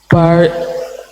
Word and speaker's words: part: part, Still there is R there. Part. No R. R should be lost.